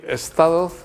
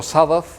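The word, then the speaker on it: Skipp Sudduth: Eh, luego está Skip Stadot, que es o Sadoth, pronunciado mejor, Skip Sadoth, que es el se ha hecho famosísimo con una serie que se llamaba The Third Watch.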